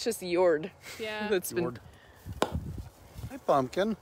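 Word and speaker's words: Jörd: names so we've got yord here so that's spelled j o umlaut um rd and so it's a soft j and if you can just channel your inner norwegian when you say it is what i've been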